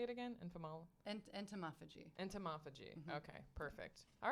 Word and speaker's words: entomophagy: Entomophagy.